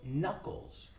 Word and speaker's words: knuckles: These are in English are called knuckles. It starts with a K, okay? And the K is silent. So these are my knuckles. What am I doing? What am I doing? Stretching your knuckles.